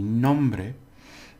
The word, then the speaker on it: nombre: Now we have two syllables, nom and bre. Right. Now because it ends in a vowel, nom is the accent one. So hola, mi nombre.